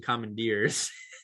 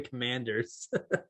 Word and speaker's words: Commanders: 13 letters you said you said the washington commandeers they're the commanders uh to be fair